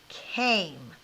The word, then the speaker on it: came: this we said that when we have that silent e on the end of a word what does it do to the vowel in the word right it makes it say its name or have the long vowel sound so this word is came okay so think about